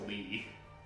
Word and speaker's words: Lea: It's a Lee. It's pronounced Lee.